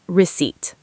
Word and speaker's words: receipt: Receipt is receipt. Silent P.